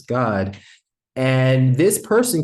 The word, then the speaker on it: Gad: You might read it as gad right, but in the Hebrew, it'd be pronounced as God.